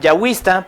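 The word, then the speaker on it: Yahweh: el no no aj yahwe O Jehová es lo mismo pero se le llama la tradición yahua porque así se pronuncia en hebreo Esta es del siglo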